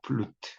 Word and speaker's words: 플루트: 그다음에 플룻 연주 이렇게 많이 쓰거든요. 근데 이것도 아니고 플루트라는 거, 플루트 이렇게 발음한다는 거예요.